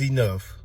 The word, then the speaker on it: enough: This one right here is cough. This one is enough.